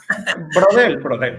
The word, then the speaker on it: Braudel: Braudel, sí. Digo, yo tampoco pronuncio como francés y nunca lo vamos a lograr, evidentemente, ¿no?